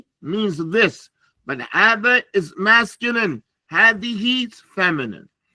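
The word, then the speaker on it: هذا: Hada, the ha, you don't write the aleph. You don't write it, but it is pronounced.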